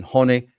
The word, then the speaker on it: Hone: got through with hurricane hon it's not hurricane hone by the way h o NE e it's not hurricane hone it's hurricane hon uh but anyway we